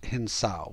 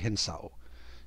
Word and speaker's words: hinsao: However, in the document, it uses these specific kanji, which is pronounced hinsao, which sounds close to hinso, but technically it would be hinsao.